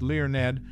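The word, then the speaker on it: Learned: learn among its cast learn whose surname is pronounced Leon Ned portrayed a character pivotal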